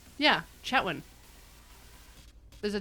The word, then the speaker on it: Chetwynd: Although, Kathleen lived in Chetwynd but she pronounces the D on the end, Huh. which is very weird as a northern BCer to me. Yeah. Chetwin. Yeah, Chetwin.